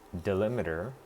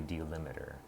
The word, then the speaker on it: delimiter: It's delimiter, but it also seems to be delimiter.